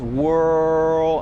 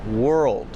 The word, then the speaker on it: world: For example, instead of saying world, he says whirl, and he doesn't really finish the sound. It should be world.